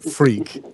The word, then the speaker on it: Freke: the great thing about having a crazy name like freak is that if you well it's you have to spell it right it's spelled f r EK e but if you